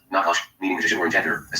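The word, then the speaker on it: נחש: of Genesis for the word serpent is D pronounced nakash meaning magici or iner as spell under to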